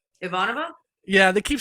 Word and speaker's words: Ivanova: if you want to call her ivanovash they can but it's Ivanova if they say it properly Ivanova Maya here we go